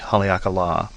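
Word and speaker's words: Haleakalā: it line over the a and so it's pronounced as a long long and duration a hakala and it's a national park at the top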